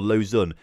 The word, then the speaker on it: Lausanne: saying fun sevre like like loose an oar Lausanne it's it's a little it's spelt low San or low San or loose